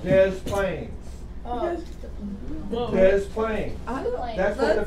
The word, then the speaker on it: Des Plaines: Called Des Plaines. Des Plaines. That's what the people up in Chicago call it. Des Plaines. They pronounce the S when it's French and it's supposed to be silent, Celeste.